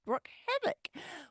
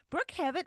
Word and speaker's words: Brooke Havoc: And a new woman, Miss Brooke Havoc. We haven't talked about Brooke Havoc before, so let's learn a little bit about her. Broo Havoc is Broo Havoc. I'm already getting her name wrong.